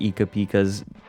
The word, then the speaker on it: Ika Pika: I have never heard Ika Pika's name pronounced that way. It's Ika Pika.